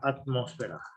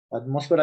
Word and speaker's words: atmósfera: Y nuestro otro factor externo es la atmósfera. Se va a cerrar ya la llamada. Ahorita explico cada uno de estos, de estos, los puntos del suelo. Atmósfera lleva acento en la O, nomás que en la